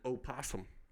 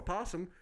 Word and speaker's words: opossum: And then I got to talk about an opossum. Opossum. Dumbest word ever. An opossum. People call it a possum, but motherfucker, I pronounce shit that's spelled. Exactly. And motherfucker, it starts with an O.